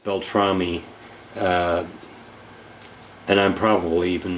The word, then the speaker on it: Beltrame: uh Frank belr belamy I keep wanting to call him belr but Beltrami uh and I'm probably